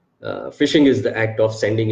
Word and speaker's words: phishing: of simple tactic phishing phishing is not a it is pronounced fishing but it's not actually getting the fish phishing is the act of